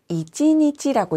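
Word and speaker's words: 一日: 앞에 있는 욕 1일에 읽는 방법을 보시면 하루 종일이라고 할 때는 이찌니찌라고 읽습니다.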